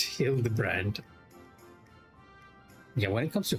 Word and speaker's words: Hildibrand: It's pronounced heal the brand.